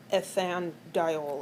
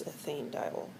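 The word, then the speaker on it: ethanediol: And the E here on ethane is left in there just to make it easier to pronounce. So instead of ethan dol, it's ethane dol.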